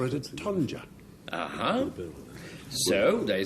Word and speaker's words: tonja: Tonja, as it's pronounced, it can also be spelt T-O-N-J-A.